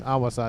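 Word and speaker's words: Ahwassa: Awasa. There was somebody in yesterday's video that was like, please pronounce it correctly.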